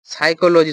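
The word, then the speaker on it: psychology: তারপরে আর কি, সাইকোলজি শব্দটাও খুব আসে, পি হয় যেটাতে, কি সাইকোলজিতে PSY, তারপর CH হবে, ঠিক আছে, কো, চো না, কো উচ্চারণ হবে, CH এ কো উচ্চারণ হবে, সাইকোলজি বা সাইকোলজিস্টও আসতে পারে, ঠিক আছে।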